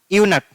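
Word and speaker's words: eunuch: यूनक इसको क्या पढ़ते हैं? यूनक। तो साउंड किसका आ रहा है?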